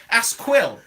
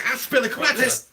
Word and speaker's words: Azpilicueta: It's Asquil. No, it's not, mate. It's Azpilicueta.